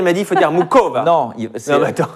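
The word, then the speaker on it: Muchová: Moi, j'ai dit Muchova et Marie, elle m'a dit il faut dire Muchova. Non, normalement, tu ne prononces pas le H, c'est super compliqué.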